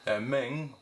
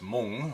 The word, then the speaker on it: Meng: after for propaganda purposes Ming which we should actually pronounce moon or Hmong is a Chinese company